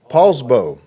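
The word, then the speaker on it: Poulsbo: Paulsbo? Paulsbo.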